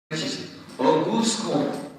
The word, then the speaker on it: Auguste Comte: It's spelled August Comte, but it's in French. Auguste Comte. Right, French people?